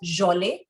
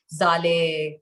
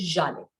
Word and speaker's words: Zhalay: It's basically pronounced Jole, but it's easier to say Jale than Jole. But Jale bhi, it's not easier. People have their own versions of my name. Someone calls me Zale. Some people call me Yale. But the correct pronunciation is Jale.